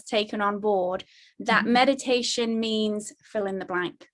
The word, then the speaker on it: meditatio: I always want to say toe as in toe, T-O-E, and that's not it.